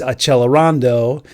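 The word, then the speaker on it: accelerando: Below the music you see it says second time a ce l and that looks like the word accelerate and in Italian it's achelando.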